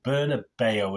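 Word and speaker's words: Bernabéu: May 2023 at the Santiago Bernabeu, is it? That's how you pronounce it. It used to be the Bernabeu in my days. Bernabeu, I think a little thing over the E, isn't there, which I've got on the thumbnail, although I can't find it on my typewriter.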